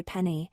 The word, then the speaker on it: penne: If you're Italian and you're saying penne, you're meant to say penny.